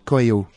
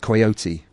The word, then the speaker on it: Coyot: roads of Paris rube there's a t at the end of his name but it's not pronounced his surname isn't coyote I'll just make that